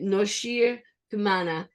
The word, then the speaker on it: Noshir Kumana: I'm talking about Noshir Kumana. And I hope I've pronounced your name correctly.